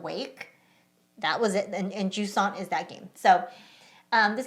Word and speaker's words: Jusant: I believe it's Jusant. Jusant.